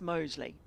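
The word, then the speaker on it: Mousley: I can tell you 100% it's Mosley. Right. Like the suburb or the village that's just near here.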